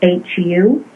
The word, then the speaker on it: Hu: And H-U is pronounced Hu when you're singing or chanting it.